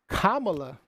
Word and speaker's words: Kamala: was a better person for the position but kamala did i say it right you said it